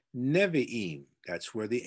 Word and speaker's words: Nevi'im: If you are writing this down, Nevi'im, I forgot to spell it for you in case you need that, is Neviim.